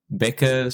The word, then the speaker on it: Bekker: would say and like becka sounds good. I think it's sort of like a CK sound, but it's with two K's.